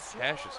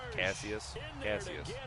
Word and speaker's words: Cassius: Cassius Marsh, dude. Glad I re-signed him to a nice contract. Cassius.